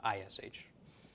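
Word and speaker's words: אִישׁ: man each would be if you transliterated it I would put is H is H no hey no it's ish so olive Sheen hey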